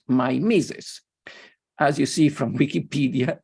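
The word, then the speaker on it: mimesis: they call it Nemesis which in English is pronounced my mises as you see from Wikipedia my source in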